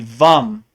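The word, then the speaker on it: वं: is a sacral chakra it looks like vam but it's really vum V and then the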